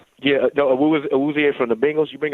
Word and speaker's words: Awuzie: There's another guy that I actually love how you pronounce his name? Awuzie? Yeah, no, Awuzie from the Bengals.